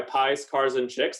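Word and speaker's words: Piekarczyk: pm on twitter i go by pies cars and chicks that's how you pronounce my last name i'm the co-founder and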